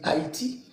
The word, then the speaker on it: Hayti: Bah disons moi je pense que c'est tout simplement comme ça se prononce ça se dit Haïti, je pense que le i le Y ça si tu veux ça dit i en fait et Haïti.